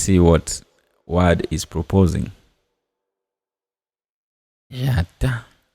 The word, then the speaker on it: j'attends: So, j'attends. Let's see what Word is proposing. J'attends. The D goes.